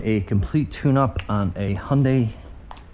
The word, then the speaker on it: Hyundai: Today we are going to be doing a complete tune-up on a Hyundai Accent, or you pronounce it Hyundai.